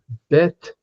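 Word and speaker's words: בית לחם: The name Bethlehem is in Hebrew pronounced betm. Now bet is the word for house. Leheim, the word for bread.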